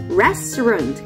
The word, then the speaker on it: restaurant: คือ ร้าน อาหาร นะ แต่ เรา จะ ออก เสียง เป็น Restaurant คำ ว่า เออ เรา จะ ออก เบา ๆ นะ คะ ถ้า เรา อยาก มี สามี